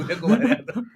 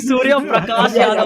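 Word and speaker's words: Suryakumar Yadav: Surya Kumar Yadav. Oh, not bad. You got it correct this time. Yeah. I remember once saying Surya Prakash Yadav or something.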